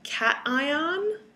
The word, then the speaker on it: cation: we want to learn cation and and ion okay make sure you protect pronounce it cat ion like the animal and n like the female you know a girl named anne okay a cation is a